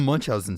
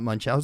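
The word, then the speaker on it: Munchausen: that he wrote down Munch Housen syndrome which I think have I been saying it wrong my entire life it's not munchow syndrome but holy crap that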